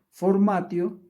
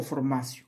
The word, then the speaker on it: formatio: Si quieres que se escribe formatio, se pronuncia formatio o formacio, como quieras, cualquiera de los dos.